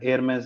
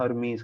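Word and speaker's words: Hermès: मुझे, क्या कहते हैं, अपना एयरमेस है। ठीक है, जैसे लोग हरमीज कहते हैं, प्रोनाउंस ऐसे करते हैं।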